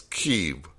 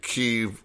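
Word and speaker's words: Kyiv: know why i want i always want to say camp but it's keep look at keeve live on youtube i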